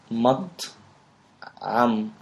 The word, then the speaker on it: مطعم: It's 2 syllables. So mat and then am. Mat'am.